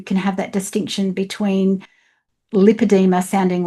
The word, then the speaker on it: Lipedema: Lipadeema is a frequently misunderstood and alarmingly underdiagnosed issue. Let's take the name just on its own. It is pronounced lipadeema, lipodma.